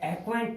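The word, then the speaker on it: acquaint: तो एक्वायर और एक्वेंट में सी साइलेंट है।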